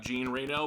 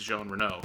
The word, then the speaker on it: Jean Reno: It looks like it's spelled out Jean Reno, but it's pronounced Jean Reno.